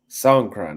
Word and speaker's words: Songkran: Songkran, that's how you say it.